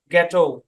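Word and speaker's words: ghetto: আচ্ছা, শব্দের শুরুতে জি এইচ থাকলে এই সাইলেন্ট থাকবে, জি উচ্চারণ হবে গোস্ট, গার্কিন, গ্যাটো।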